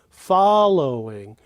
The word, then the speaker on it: following: listen to the following following and note that the fall of following is the highest pitch follow the low is the low pitch and then the in